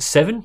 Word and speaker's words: Radeon VII: GPU known as the Radeon seven its stylized as VII but it's apparently pronounced seven Roman numerals and all